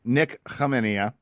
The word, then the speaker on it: Nik Khamenia: separating the fact that his last name has a K that's silent. I guess Canipple took all the K's with him. Um so it is what it is. Yes. Nick Kmenia is how the name is pronounced.